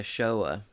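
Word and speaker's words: Shoah: is so the holocaust also known as the showa i think is how you say that was the genocide of european jews during world war ii between 1941 and 1945.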